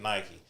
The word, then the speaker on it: Nike: even like, look at Nike. Nike, you have to say the E at the end. It's Nike. Yeah. You know, but you have to say Nike.